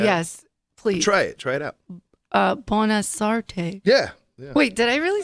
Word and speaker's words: Bonasorte: Bonasorte.